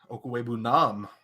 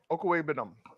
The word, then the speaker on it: Okwuegbunam: Okwuegbunam. Vietnam. That's what I said. Yeah, Nam. I fought in Vietnam. Okwuegbunam.